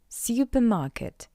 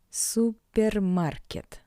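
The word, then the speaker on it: супермаркет: is borrowed from English therefore to pronounce this word in Russian you just need to read the English version with the Russian accent Supermarket Super Market Supermarket how you can understand it's all about the sound r r in English in Russian R Market Market Market Market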